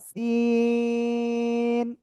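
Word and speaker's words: سين: তারপরে আমরা শিখেছিলাম এই অক্ষরটা একই জায়গা থেকে চিকন আওয়াজ করে আমরা উচ্চারণ করব, 4 আলিফটা নিয়ে সিন।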